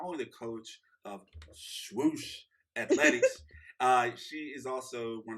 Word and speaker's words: Swoosh: Swoosh?